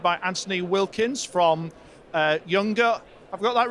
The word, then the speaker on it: Junger: German company so the the J is pronounced as a y so yes it's younger younger audio great and so